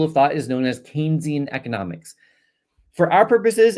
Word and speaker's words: Keynesian: Keynesian, that's how you say it. Um, you probably pronounce it as Kynesian or something when you look at it.